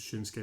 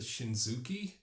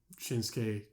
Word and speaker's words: Shinsuke: but they pronounce it shinuki well there's a u in it but the U is silent yeah um it's the